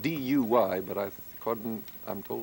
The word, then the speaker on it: Duy: And in the country of Vietnam, they met an extraordinary musician named Pham Duy, spelled D-U-Y, but I'm told it's pronounced Duy.